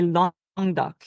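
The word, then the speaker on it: Languedoc: whole thing together but for the first word you would say long duck so it's it's very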